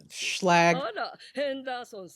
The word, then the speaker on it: Schlag: Schlag rhymes with a hag.